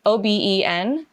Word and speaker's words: Oben: it is How do you spell that? so light. Oben.